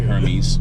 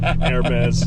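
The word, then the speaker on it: Hermès: It's not Hermes. Okay. Yeah. Hermes. The H is silent, apparently.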